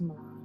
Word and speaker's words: Milan: Milan, okay? For y'all, I just feel like a lot of people don't know how to say her name properly, but it is Milan.